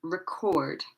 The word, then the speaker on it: record: Okay, the stress is on the second part. Content. Remember, this is an adjective. Content. And for the other verbs, contract. This one, object. This one, record. Record.